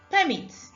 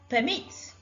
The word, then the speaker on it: permit: Permit, noun. Permit, verb. Record, noun. Record, verb. Present, noun. Present, verb. The red marks show the syllables that are stressed in the words.